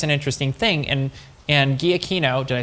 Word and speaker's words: Giacchino: pretty solid partnership with with Michael Giacchino yeah guia keynote thank you where were you last time I